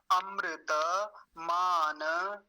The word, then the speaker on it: अमृतम: तो ये अमृत, यहाँ एक शब्द है अमृत या अमृतम, अमृतम बोल देंगे इसे, अमृतम।